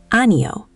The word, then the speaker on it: 아니요: Let me say it slowly. Ano. The stress is pretty even across all three syllables, but there's a slight lift on the ule at the end. That ule ending is what makes it polite.